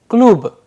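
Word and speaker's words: клуб: Dear learners, if we pay attention to the last word klub, the devoicing of consonant is playing an important role here. That is why when we are pronouncing the word klub, the pronunciation is coming klub, because the fundamental rule of devoicing of consonants is playing a vital role.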